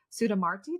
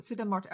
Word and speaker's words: Sudha Murthy: And I love what you shared too about Sudha Marti. Did I say her name right? Sudha Marti? Sudha Sudha Murthy.